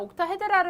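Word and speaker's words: 옥타헤드랄: 측 하고 경우도 있는데 이것 그냥 옥타 헤드 라르 라고 읽으면 되요 예가 바로 뭐냐면 옥타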